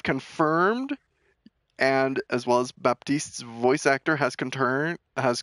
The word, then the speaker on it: Baptiste: and as well as Baptiste's voice actor has content has confirmed it is pronounced Baptiste be you pronounce that P in there BAP Baptiste Baptiste is a Haitian